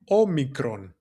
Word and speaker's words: Omicron: And it's pronounced Omicron. the name of it omicron.